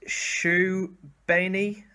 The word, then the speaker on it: Srbeny: latest Norris signing in Dennis pronounced shoe bany shoe beanie we'll go with that we're just gonna call